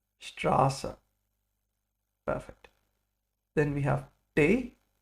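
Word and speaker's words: Straße: it's called s sat it's like a double s and it makes the sound of a sharp s like strassa strassa perfect then we have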